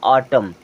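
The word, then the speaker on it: autumn: है चलिए आगे देखें अब यहां भी देखें यहां ए के बाद यू है तो यह तो साइलेंट हो ग ही और अगर एम के जस्ट बाद कभी एन आता है ना तो एन भी साइलेंट होता है अब देखिए इसमें दो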